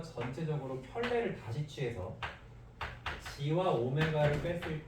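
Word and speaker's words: ω: 사실이 W는 오메가라고 읽습니다. 그냥 보통 W랑은 조금 다르게 둥글둥글하게 써 있죠. 마치 숫자 3이 좀 누은 거 같이 생겼는데 여기가 살짝 이게 삐져나가네요. 저건 이제 스고 얘를 오메가라고 읽습니다. 오메가 어쨌든 w 읽어도 돼요.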